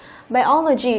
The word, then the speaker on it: biology: Biology cũng vừa phân tích rồi, đây là đuôi OG cho nên trọng âm sẽ rơi vào âm tiết trước đấy là O. Đọc lại biology, môn sinh vật học.